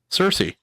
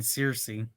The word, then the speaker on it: Cersei: you saying that name wrong on purpose? What? Is that what Xerxes. you call her? Cersei. You were saying Circe.